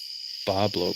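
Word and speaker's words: Bois Blanc: that article where uh it's pronounced Boblo believe it or not but it's Bois s separate word b an C they need a school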